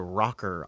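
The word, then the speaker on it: ROKR: Um this was Motorola and Apple announced the rocker iPod cell phone. R O K R Rocker. I'm guessing that's how you pronounce it as rocker.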